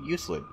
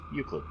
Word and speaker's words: Euclid: I was pronouncing it Euclid, but it's Euclid.